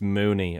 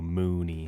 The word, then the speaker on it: Muni: Uh, I think that um it's actually it's it's Mooney. I've looked up um I've I've chat GPT Paul Mooney pronunciation and it's M O N E. So Mooney.